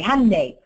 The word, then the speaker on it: Hyundai: pronouncing your Hyundai dealership Hyundai it's Sunday Monday Hyundai we know this you